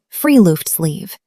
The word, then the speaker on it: friluftsliv: It is called friluftsliv, pronounced free-loofts-leave.